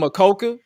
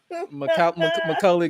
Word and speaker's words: Macaulay: I was about to call him Makoka, like Makoka. I'm about to say Makoke, but I'm like, let me get you to pronounce it. Macaulay Culkin.